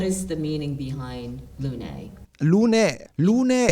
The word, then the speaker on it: Lunae: You pronounce Lune. Lune. Okay. Because it's a Latin name.